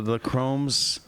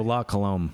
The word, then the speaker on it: La Colombe: The Lacums or something. The Lacromes Nitro. I can never pronounce it. Oh, La Colombe.